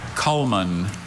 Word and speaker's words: culmen: Culmen.